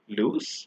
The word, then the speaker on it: loose: loose versus lose remember where we add double O we pronounce the S as s but where we write